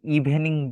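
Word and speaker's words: evening: বাঙালিরা তখন আমরা এটাকে ইভিনিং বলি অথবা ইভিনিং বলি। আমরা ইটাকে যদি একটু ইজি করতে চাই তাহলে আমরা জাস্ট এই ইটা বাদ দিব। উচ্চারণের সময় এই ইটা উচ্চারণ করা হবে না। ইভনিং ইভনিং।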